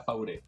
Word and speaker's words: Fauré: ¿Cómo se pronuncia tu apellido? ¿Está bien? ¿Fauré o es castellanizado a propósito del francés? ¿Cómo se dice tu...? Yo prefiero que sea Fauré.